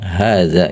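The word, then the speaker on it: هذا: Jadi ditulis dengan harakat pendek tapi dibacanya panjang. Hadza gitu.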